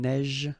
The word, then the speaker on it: neige: Un neige. Final E not pronounced. You only pronounce this j.